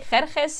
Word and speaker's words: Xerxes: I don't know actually how to pronounce it in English. We say Xerxes in Persian.